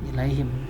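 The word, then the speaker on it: إليهم: Nah, kata ini bacanya ilaihim. Surat kawan-kawan bisa buka tafsirnya atau terjemahnya surat Al-An'am ayat 111. Nah, di sini yang menjadi contoh adalah ilaihim. Contohnya adalah ilaihim karena harokat sebelumnya ya sukun.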